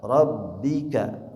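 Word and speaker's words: رَبِّكَ: Rabbika huruf ba-nya bertasydid ditekan.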